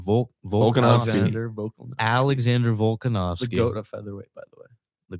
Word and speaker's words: Volkanovski: Volkanovski.